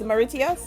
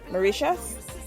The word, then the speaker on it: Mauritius: me pronounce it correctly it's maritia mauritius mauritius yes we got a few